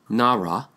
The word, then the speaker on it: Narra: special o fear wood Nera in Tagalog Filipino pronunciation Nara is the very same as the Hebrew word Nara coincidence we do not